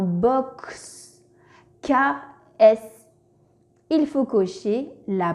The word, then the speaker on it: box: À votre avis, dans le mot box, quel son fait la lettre X? X, X, S, Z ou X est muet? Oui, c'est ça. X fait le son X dans box.